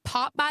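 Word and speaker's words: Pop-By: So what a pop buy is, it's spelled Popby. 2 different words. People think I'm saying Popeyes, like the chicken.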